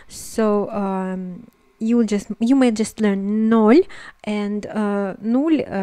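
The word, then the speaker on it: ноль: The 0 is nol in Russian, or there's also another pronunciation, is nul. Both mean basically the same, but as a Russian speaker I'm gonna tell you that nol is used very often.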